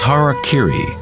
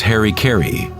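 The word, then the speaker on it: hara-kiri: suicide or seppuku was hara kiri was often mispronounced as harry kerry it means to impale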